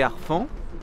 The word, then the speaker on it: harfangs: Les harfans étant un mot d'origine franque, et le H qui se prononce comme un H aspiré, n'est-ce pas? Tout à fait. Voilà, donc les harfans bien d'origine franque, donc pas de liaison avec.